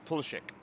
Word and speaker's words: Pulchik: I've got the correct pronunciation for his name is Pulchik.